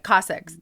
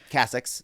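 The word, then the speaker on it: cassocks: I never say it right. Cossacks. Yeah. Cossack? Is that right? Cassacks. The Cassacks. Thank you.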